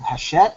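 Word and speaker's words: Hachette: the United States is called haset I think it's pronounced and they are currently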